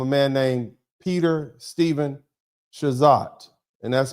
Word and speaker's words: Chazotte: man named Peter Stephen Chazot, and that's spelled Chazotte. I'm not going to try to pronounce it like I'm French. I'm going to pronounce it like an American. Chazot. Maybe Chazé, I don't care.